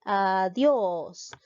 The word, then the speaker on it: adiós: caso tildó la e adios nos damos cuenta que la mayor fuerza de voz recae en la sílaba dios ve adiós te das cuenta en